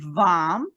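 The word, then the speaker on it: vam: area and so the the syllable is of vom v-a-m bomb and the sulfazio is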